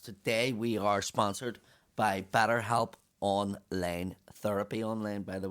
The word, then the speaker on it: BetterHelp: Better Life. They have it. It's like a manual. BetterHelp.